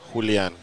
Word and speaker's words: Julian: Julian is the correct pronunciation.